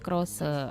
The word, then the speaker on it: crochet: Jadi C R O C H E T ya Bu ya. Bacanya Crose.